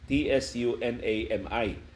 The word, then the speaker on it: tsunami: Ang spelling kanang tsunami is a Japanese word. Ang iyang spelling tsunami, Tsunami. Pero ang westernized nga pronunciation ana tsunami. Pero kita dinhi sa Pilipinas atong nabasahon sa literal tsunami.